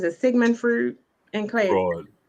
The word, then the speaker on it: Freud: Fraud. Fruit fraud. That's how you say it. I call them fruit. Anyway, I got an A on it. Freud.